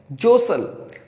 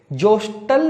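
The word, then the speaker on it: jostle: जोसल, जोस्टल नहीं पढ़े इसे, इसे प्रोनाउंस करेंगे जोसल।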